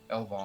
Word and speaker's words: Elvaan: And then for the Elven, it's Elven also, but it's spelled Elvaan. Elvan.